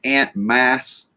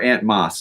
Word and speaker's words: Ant Moss: And my boy Ant Mass, Anthony Ant Mass is or Ant Moss. I'm sorry, dude. I said your name wrong.